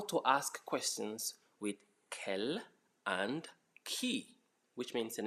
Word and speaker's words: quel: It's quel. Quel. It's not quel. Many of you English speakers call it quel. Okay, that's English pronunciation. This is quel. Quel, like Kelly.